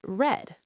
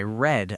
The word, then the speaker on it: read: In the present we say read like the long e sound but in the past we pronounce it as red just like the color red. For instance, I can say I read a book yesterday.